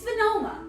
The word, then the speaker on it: Venoma: Now, it could be Venoma. I don't think it is. You know what? I know it's not. It's Venoma.